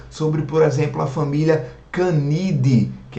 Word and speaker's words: Canidae: Fica Idaé escrito, mas termina com AE, então a gente pronuncia apenas o E. Vocês vão lembrar que eu comentei com vocês na aula sobre, por exemplo, a família Canidae, que é a família